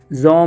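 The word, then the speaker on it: Jean: था जिसका नाम था जॉन मार्टिनेट। ये जॉन पढ़ते हैं इसको, ठीक है।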